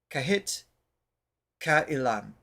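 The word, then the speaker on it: Kahit Kailan: song is kahit uhan because the A and I would be pronounced separately so kahit kaan if you can translate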